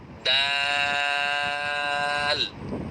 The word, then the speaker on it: দাল: আলহামদুলিল্লাহ, জিহ্বার আগা ওপরের বড় 2 দাঁতের গোড়ার সাথে লাগিয়ে এই দাল অক্ষরটি উচ্চারণ করতে হয়।